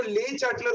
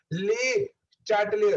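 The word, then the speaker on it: Le Chatelier: अब अगर मैंने रिएक्टेंट के कंसंट्रेशन को इंक्रीज किया तो ले चैटलर बोलता है, ले चैटलियर, देखो प्रोनाउंसिएशन गलत कर दिया मैंने, ले चैटलियर बोलता है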